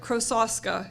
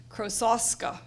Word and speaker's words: Krosoczka: Jarrett from now on because krosoczka is is a mouthful but I do look it up and that is how you say it as far as I can tell so anyway so Terry